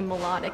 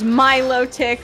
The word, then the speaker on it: Milotic: There's the right way to say it, and then there's the wrong way to say it. There's my way or the highway. There's my low tick or there's no low tick.